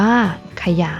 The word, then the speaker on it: ขยาย: นํา อักษร ต่ำ เดี่ยว เสียง ของ พยางค์ ที่ สอง จะ เปลี่ยน ไป ตาม อักษร ที่ เป็น ตัว นำ เช่น สง่า อ่าน ว่า สง่า ฉลาด อ่าน ว่า ฉลาด ขยาย อ่าน ว่า ขยาย นัก เรียน สังเกต นะ